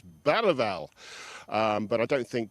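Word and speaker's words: Bergvall: man we call Lucas Bergville. And I'm very reliably told by local journalists that if you're going to pronounce it in the Swedish way, you pronounce it Lucas Bal.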